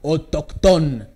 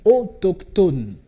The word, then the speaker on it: autochtone: alors faites déjà attention on ne prononce pas autochtone non c'est pas français on dit autochtone voilà alors le mot